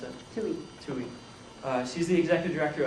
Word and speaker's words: Tuohy: Our next speaker is going to be Tuohy. Did I pronounce that right? Close. How do you pronounce it? Tuohy.